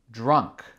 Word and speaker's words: drunk: Drunk. Répétez. Drunk. Drunk. Ça s'écrit D-R-U-N-K. C'est avec le D-R qui est dur parce que le son R est difficile en anglais.